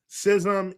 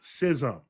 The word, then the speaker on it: schism: Sism is not a verb. It is a state. It is a noun. One cannot sizzism. One cannot schism if you prefer that uh particular pronunciation.